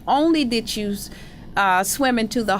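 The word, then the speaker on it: Onley: Only? Is that how you pronounce his name? Yeah, David C. Only.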